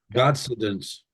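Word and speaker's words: Godcidence: to pronounce it though how do you say it God sidence God sidence okay but that's that that's exactly I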